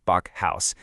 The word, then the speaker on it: Backhaus: It's pronounced Bach House, and it's the German word for a bake house.